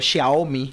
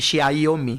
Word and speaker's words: Xiaomi: Entonces, eso en el área telefónico, Xiaomi, la gente dice Xiaomi, no, Xiaomi. Xiaomi que hoy día no solamente tiene, tanto Huawei como Xiaomi no solamente están en el tema de teléfono.